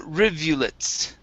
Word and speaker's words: rivulets: go to okay little rivulets okay this is riw little rivulets little rivulets okay give me a good V Riv R rivets rivulets